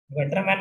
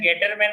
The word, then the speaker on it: Gattermann: हम pronunciation गेटरमैन कर रहे हैं, गटरमैन नहीं, ये ध्यान रखना, ठीक है।